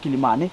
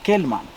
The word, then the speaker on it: Kilimani: Now, many historians suspect he was referring to this region, only that he did not get the proper Swahili pronunciation. Instead of Kilimani, he had Kelman.